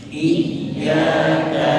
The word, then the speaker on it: إياك: فحتى أنطق الكلمة نطقا سليما Sehingga ketika kita ingin mengucapkan kalimat tersebut dengan baik, أعطي ابتسامة قليلة للحرف المكسور وأنطق الياء من الجهة اليسرى. maka ucapkanlah huruf kasrah tadi dengan senyum sedikit, kemudian mengucapkan huruf ya dengan bagian mulut kiri, وأنطقها مشددة. dan bacalah dengan bertasydid, yaitu dengan tekanan.